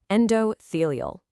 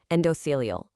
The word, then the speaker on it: endothelial: Pronounced endothelial. Endothelial.